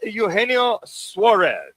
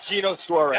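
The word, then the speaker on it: Eugenio Suárez: How do you pronounce his name correctly, Manuch? Eugenio Suarez. There you go. Or Gino Suarez.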